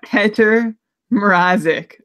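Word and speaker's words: Petr Mrázek: I'm going to consult our handy dandy pronunciation guide that says, yeah, Petr Mrazek.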